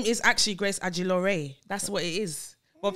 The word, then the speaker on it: Ajilore: name is actually grace agilore that's what it is what people like to say no it's not oh so it's not actually pronounced no it's actually pronounced the way i'm saying it where's nigeria it came